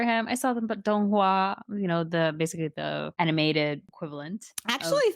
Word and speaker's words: Donghua: I saw them, but Donghua, basically the animated equivalent.